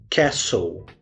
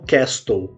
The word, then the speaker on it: castle: Ela se escreve com a letra T no meio. E eu vou deixar inclusive na descrição aqui para vocês acompanharem. Mas a pronúncia correta dessa palavra é castle. E não castle, como muitas vezes a gente acaba pronunciando.